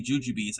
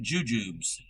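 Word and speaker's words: Jujubes: They pronounce it jujubs. It's juju bees. I've always heard of Juju Bees.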